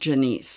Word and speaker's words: Janice: And I actually think her name is pronounced Janice.